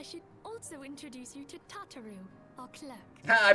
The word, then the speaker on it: Tataru: game oh i should also introduce you to tataru o'clock i pronounced that correctly everything runs smoothly it was tataru that's also more or less what i expected